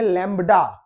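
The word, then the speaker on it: lambda: चलिए अब है यहां पे लैम्डा फाज, लैम्डा बैक्टीरियोफाज। इसको हम प्रोनाउंसिएट करते हैं लैम्बडा।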